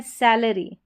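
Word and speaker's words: salary: सैलरी यहां पर सैलरी री आर वाई को र पढ़ा ए का उच्चारण अ करके या ए करके आता है तो एरी या अरी करके आपको ए आर वाई का उच्चारण करना है।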